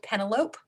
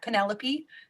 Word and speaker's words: Penelope: it is today uh once read an entire series of books about someone he called pentelope because he never heard the name penelope spoken out loud so